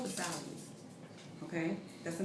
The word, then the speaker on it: Versailles: languages are concerned, you don't know how to pronounce those words. But it's called Versailles.